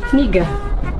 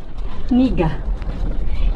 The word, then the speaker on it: Niga: Niga. What's that? Niga. The name. Wait, how do you say it? Niga.